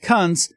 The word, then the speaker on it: Kunce: Not sure how it's pronounced, but I'm pronouncing it Kunce to rhyme with dunce.